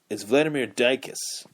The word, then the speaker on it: Ducasse: It is Vladimir Ducasse. That's Dykas pronunciation.